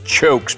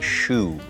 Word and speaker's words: choux: spelling here from Kentucky that's a chokes pastry but it's actually pronounced a shoe and a shoe has